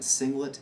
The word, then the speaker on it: singlet: do we say here not One S zero but we say single s0 I'll say it again singlet s0 so make sure you pronounce it correctly in that sense all